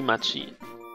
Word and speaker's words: Machi: Dann mach M-A-C-H-I und nenn es ab und sprich es dann aus wie Machi. M-A-C-H-I? Ja. Okay, gut, dann bist du Machi. Machi!